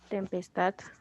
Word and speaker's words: tempestad: Por ejemplo, Tempestad. tempestad. Ahí la sílaba tónica estad es una palabra aguda, pero es prosódica.